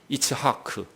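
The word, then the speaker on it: יצחק: 힘든 3개 알파벳을 모았어요 이츠하크 2차 아크가 아니에요 이 배에서 힘을 빵 줘 가지고요 공기를 위로 올려서 목구멍을 탁 쳐냈다 즉 그 이렇게 2차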